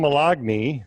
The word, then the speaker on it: Moloughney: we have a special guest time it's time Milani that's how you pronounce it I thought I thought it was